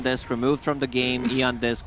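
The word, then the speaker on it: Aeon Disk: Yeah, Eon 730, Eon Disc removed from the game, Eon Disc pronounced Aeon Disc.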